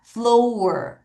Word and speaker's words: floor: 오가 두 개 있어서 우라고 발음하지만 얘 좀 특이합니다. floor.